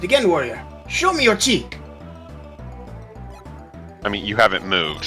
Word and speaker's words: chi: This whole bit annoys me so much because Ki with a K and Chi are pronounced the exact same way.